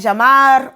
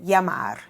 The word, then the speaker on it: llamar: Sometimes saying llamar or sometimes saying llamar.